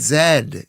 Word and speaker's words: Z: Thought it was just Z. No, it's zed. How do Don't we don't How do we pronounce Z in this country? Isn't it pronounced zed? And Z is the American way.